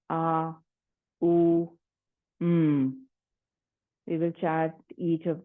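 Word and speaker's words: AUM: Prana or G today we will split the M into three syllables a u m we will chat each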